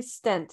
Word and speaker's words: Fay-Stindt: Fay-Stindt, am I pronouncing that correctly? Stint.